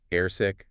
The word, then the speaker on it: airsick: So any pronunciation points we should flag here, like airsick, nausea, vomit? Good question. Air sick, the stress is clearly on air.